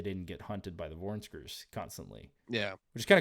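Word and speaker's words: vornskrs: Vornskers. They I would not have pronounced that.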